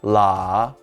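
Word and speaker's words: 拉: firmly on the ground this character is pronounced la and means pull it is used in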